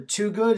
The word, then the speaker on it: Twogood: like for you to introduce yourself you're Dr to good is that the correct pronunciation right I'm Dr Dan T good I'm